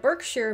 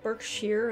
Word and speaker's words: Berkshire: was inspired by the berkshire mountains in massachusetts notice i said berkshire and not berkshire i have learned my lesson from my english counties video but basically all of